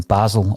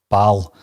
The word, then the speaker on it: Basel: another from their time in basel or baal depend on on how you pronounce that these days so i was delighted